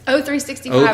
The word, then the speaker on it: O365: The Microsoft Educator Training, it's O365, how you say it? O365, because it's the letter O, Office 365.